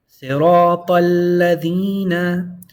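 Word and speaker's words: صِرَاطَ الَّذِينَ: How would you read them together? Yep, that's why you hear it in the pronunciation or the recitation like that. You go straight from the ta to the lam. And there's a double lam, make sure to hold on to it.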